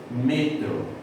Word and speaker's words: metro: E em espanhol, a sílaba tônica veio para trás, passou a ser metro.